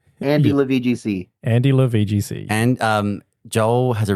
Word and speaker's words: AndyLaVGC: It's AndyLaVGC. It's like if you were saying my name. My name's Joel Andrew. AndyLaVGC.